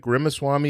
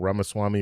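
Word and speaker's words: Ramaswamy: If you guys don't know who Vivic Rimwami is, he ran for, and I know I'm saying his last name wrong, Ramaswami. Rimmawami.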